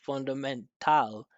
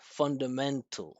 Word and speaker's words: fundamental: So he didn't pronounce fundamental, right? He said fundamental.